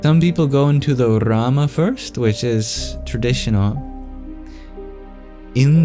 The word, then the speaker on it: Rama: after the other Rama the or of of Sanskrit is traditionally pronounced by curling the tongue back in retroflex you can either just make a vowel sound there orama or you can make a tap against the the hard palet Rama or if you're like